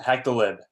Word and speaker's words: HackTheLib: um prizes for for is it hack the lib or hack the live I wasn't sure how to pronounce it yep hack the lib hack the lib so